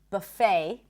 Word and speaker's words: buffet: And also the word buffet in American English, the T is not pronounced. Buffet.